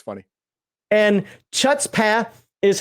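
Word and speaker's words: chutzpah: it's spelled except that the ch is pronounced like you're clearing your throat it's a rule in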